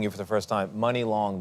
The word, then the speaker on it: Muni Long: So for people hearing you for the first time, meeting you for the first time, Muni Long, the name, you say it like money, but it's spelled differently.